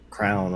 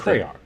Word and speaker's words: crayon: it, drives me nuts, and it's crown or whatever however you pronounce it. It's crayon. It's a crayon.